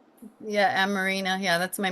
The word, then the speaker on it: Amarina: Am I pronouncing that right? Yeah, Amarina.